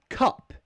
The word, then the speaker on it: cup: and cap great question okay Cup it's in phonetics it's the one that looks like that it's the same as in up Cup Cup thing you wear